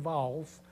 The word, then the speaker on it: Valls: que es un catalán lo pronuncia así como un catalán manuel baus pero que francés es actualmente